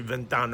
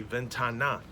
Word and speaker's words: ventana: You don't say ventano, all right, you say ventana.